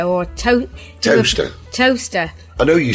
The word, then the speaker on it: Towcester: We've got to shout out to Kerry and Chris, who have been listening in Towcester or Toaster. Toaster. I know you spell it Toaster.